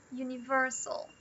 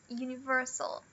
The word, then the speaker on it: universal: Essa aqui é uma de quatro sílabas, então a primeira, a U, ela é secundária. E a forte, ela é essa aqui, o ver. Universal.